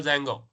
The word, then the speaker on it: Django: We install Django. Django, D is silent.